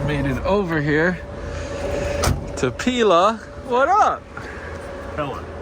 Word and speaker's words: Pella: All right, we just made it over here to Pila. What up, Pella? Pella Pila. I'll always say it wrong. Pella Windows. pillow windows. I've been saying pillow windows my whole life.